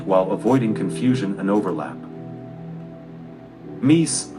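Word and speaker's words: MECE: must be complete while avoiding confusion and overlap mese pronounced me c stands for mutually exclusive collectively exhaustive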